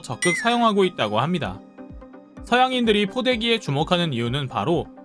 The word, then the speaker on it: 포대기: 매는 법 이나 자신만의 포대기 활용법 노하우에 대해 사진이나 영상을 찍어 올리는 사례도 심심찮게 발견할 수 있죠 놀랍게도 영문 표기는 한국식 발음 그대로 포대기 입니다 서울을 3 울로 현대를